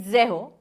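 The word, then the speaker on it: zéro: Zero is zaho.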